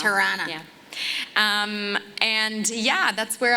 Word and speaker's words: Toronto: how you say it like a real Canadian. Tirana. It's not Toronto. It's It's Tirana.